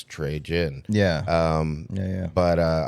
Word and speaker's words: Trejen: to me it's like you say it the way it looks trey jin yeah um yeah but